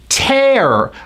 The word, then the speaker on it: tear: you pronounce it as tear I call it the air vowel you go up on the a pull back on the r air and the word is